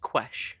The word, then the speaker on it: Quesh: of this um and we know that it's pronounced ques okay that's interesting isn't it so anyway what